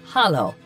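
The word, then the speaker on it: Halló: hello in Icelandic is pronounced Hollow thank you is tuck yes is yah no is nay goodbye is bless 14.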